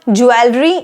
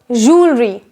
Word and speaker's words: jewelry: we have is this it's not jewelry it's jewelry jewelry for example this is